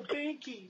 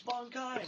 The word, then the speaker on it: Bankai: But who the hell calls it a Banki? It's Bankai. Say it right.